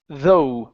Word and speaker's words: though: even okay this word the G and the H are not pronounced okay so instead of saying okay it's though we end on an o sound even though even though